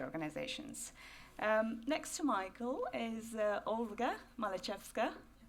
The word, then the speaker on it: Olga Malchevska: Next to Michael is Olga Malchevska. Pronounced it correctly.